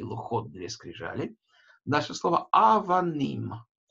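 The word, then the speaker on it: אבנים: Буква алиф имеет такую гласовку составную, которая состоит из горизонтальной черточки и двух точек, да? Эта огласовка называется хатаф-патах, это ультракраткая А. Сама буква алиф не читается, поэтому первый слог, да? А первый слог мы еще не прочитали, потому что эта огласовка не слогообразующая.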